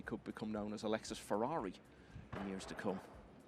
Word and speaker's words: Ferrer: research on it and you've been assured it's pronounced Ferrar, so that's what we're going to go with. Of course, it lends itself to a wonderful nickname. He could become known as Alexis Ferrari in years to come.